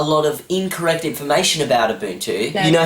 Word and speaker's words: Ubuntu: Not only did I make up a lot of incorrect information about Ubuntu...